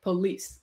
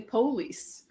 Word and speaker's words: police: in the standard language like police that's from french second syllable stretch stat stress it stays but in some dialects they might say police or july or cement we like